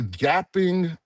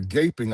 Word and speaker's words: gaping: end of the day, the gapping deficiency or the gaping, I think is the right way to pronounce it.